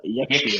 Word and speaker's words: Yakshi: Try pronouncing it. This is simple. Yeah, Yakshi.